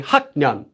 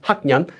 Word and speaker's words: 학년: You'd have to say 학년, 학년, 학년.